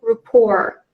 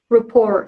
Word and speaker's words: rapport: So according to the phonetics, the first syllable is with the A sound, and the T is silent. So the standard pronunciation would be rapport.